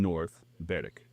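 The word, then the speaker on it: North Berwick: 20 miles east of Edinburgh along the f of fourth lies a coastal town named North Beric. And yes, that is going to be the last time I pronounce this in the Scottish way.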